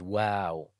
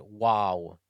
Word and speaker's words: و: The 26th letter is wow, like the English pronoun we. It's not wow, it's wow, soft and light letter. Wow is pronounced when you put both lips together and you stick them out.